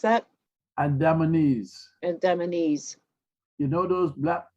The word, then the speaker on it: Andamanese: Was it, how do you say it, pronounce that? Andamanese.